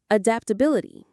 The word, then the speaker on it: adaptability: The stress is on the bill syllable. Adaptabil or adaptability.